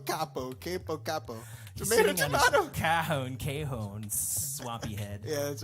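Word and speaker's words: cajón: I'd be like, it's called a cajon. They'll be like, how do you spell that? C-A-J-O-N. They'll be like, Cajun.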